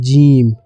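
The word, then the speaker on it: جيم: হলে ভুল হয়ে যাবে সর্বপ্রথমে এক নম্বর হচ্ছে জিম এক নম্বর হচ্ছে জিম আর দুই নম্বর হচ্ছে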